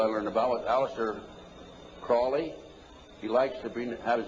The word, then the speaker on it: Crowley: learned about was Aleister Crowley he likes it Bennett has been pronounced Crowley to rhyme with holy and the Satanist today